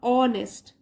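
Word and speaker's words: honest: इन an society और ऑनेस्ट जैसे पीछे भी आपको बताया था हा को प्रोनाउंस नहीं करना है ऑनेस्ट और ट्रूठफुल कोमा है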